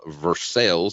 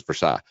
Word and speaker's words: Versailles: a little town right outside lexington kentucky called versailles that's how the redneck's pronouncing around here proper pronunciation is versailles so what you're going to do is you're